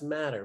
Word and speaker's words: Matter: And he pronounces his last name Matter. I mean, it's M-A-T-T-E-R. That's Matter, man. But he's like, Matter.